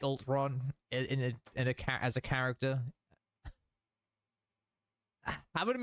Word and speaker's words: Ultron: Now let's move on to Ultron.